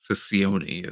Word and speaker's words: Ciccione: with new TNA president Anthony Ciccione, is how I'm deciding to That pronounce it. that's actually how you pronounce it.